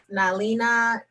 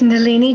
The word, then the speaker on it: Nalini: And we will move on to Miss Nalina. And I'm sure I pronounced that wrong, so correct me. Yes, thank you. It's Nalini.